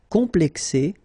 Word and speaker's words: complexé: Complexé, complexé. So you just add this final E, but then for the feminine form, it's phonetically it's the same as the masculine form.